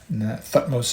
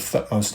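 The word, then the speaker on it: Thutmose: of Egyptian history I speak of thos III thos is spelled t h u t m o s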